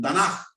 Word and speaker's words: Tanaj: Bueno, para que nosotros podamos pronunciarlo en español se le tuvieron que poner las dos A. Ellos no tienen ningún problema porque cuando ellos ven estas tres letras, ellos saben que dicen Tanaj, ¿ok?